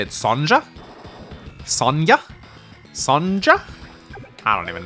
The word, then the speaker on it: Sonja: Apparently people say I pronounce Sonja's name wrong too, but Sonja is actually a very common name in Norwegian, and we say Sonja, so...